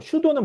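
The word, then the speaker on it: pseudo: 슈도는 뭐냐하면 아 앞에 P는 묵음이에요. 기본적으로 무음이라는 건 발음하지 않습니다. 어 그래서 슈도라고 불러.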